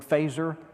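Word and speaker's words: Feser: to search his as FES er looks like fessor but it's pronounced fazer like in Star Trek yeah you wrote the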